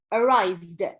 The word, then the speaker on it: arrived: Yes, Sharafuddin, when he arrived, not, so there are three pronunciation for the last ed, for the final ed of past simple, and this one is the, not id, arrived.